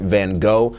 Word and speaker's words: van Gogh: by the name Vincent van Gogh however the Dutch pronounce it Vincent van Gogh something like that anyhow Vincent van Gogh